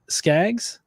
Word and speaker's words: Skaggs: How'd you pronounce it? Skaggs. Skag. Skaggs. Yeah. Yeah. Okay, good.